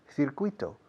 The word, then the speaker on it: circuit: Circuito, circuit. Es la palabra que peor se pronuncia en el mundo técnico, en España, en inglés. Circuit, no es circuit, por favor.